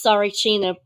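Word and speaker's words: Tsarichina: in 2007 um on this Sarina project and now it's spelled t s a r i c h i n a and again most of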